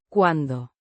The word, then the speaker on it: cuando: Cuando ella sigue mintiéndole a Río, como si los términos fueran inamovibles. Cuando means when or while. Pronounced cuando with a soft de sound.